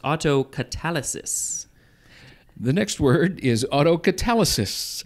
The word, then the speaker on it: autocatalysis: is omnibus first meaning the next word is auto catalysis i think it is pronounced autocatalysis the next word is autocatalysis there you go